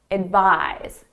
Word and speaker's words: advise: So you can think of it more as a Z sound.